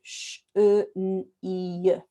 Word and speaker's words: chenille: I'm introducing this word, by the way, because it's got the double L in, because they haven't done the y, double L, y.